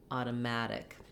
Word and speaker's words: automatic: with a stressed syllable, it can be helpful to start on that stressed syllable and build from there. In this case, it would sound like matic, automatic. That helps you get the rhythm and makes you be fast and light enough on these unstressed syllables before mad.